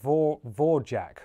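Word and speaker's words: Dvořák: Dvor is pronounced Vorjak, roughly.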